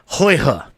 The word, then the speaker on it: Huyghe: Let's see if I can pronounce this right. It's Huyghe. And I did do some research on it, so I did look it up. Huyghe is what they have gone with.